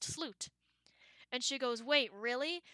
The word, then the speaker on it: slut: go oh it means the end and it's pronounced sloot and she goes wait really so chooses the